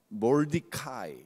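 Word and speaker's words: 모르드개: 에스더의 사촌 오빠인 모르드게, 영어 발음으로 적어놨죠. 몰디카이, 한글로 음역하면서 모르드게라고 적은 겁니다.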